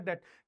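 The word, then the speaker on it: debt: क्या लिया है बेटा डेट और डे की स्पेलिंग क्या होती है डी ई बी टी डे ठीक है अभी मैं आप लोग को बता बताऊंगा डे।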